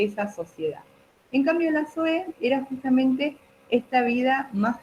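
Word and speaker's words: ζωή: acento la i yo e con z y acento en la e que es un nombre también que que solemos que se suele utilizar para nenas sí Zoe no solemos decir soe los griegos tenían estas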